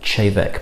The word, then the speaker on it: Te Bheag: to say but it is pronounced even though it's t-e-b-h-e-a-g chavec because this is gaelic um and it's actually